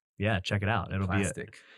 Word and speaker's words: Plastiq: within the last year of a website called Plastic, which is really cool. For those you don't know, I think it's spelled PLASTIQ.